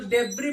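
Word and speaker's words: debris: सस गायब होता है डी ई बी आर आई एस इसको डेबी पढ़ते है स यहां भी क्या होता है साइलेंट होता है ऐसे ही ी आई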